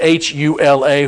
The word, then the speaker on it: Hula: You usually find it H-U-L-A, Hula, but this is spelled as H-U-L-E-H, Hule.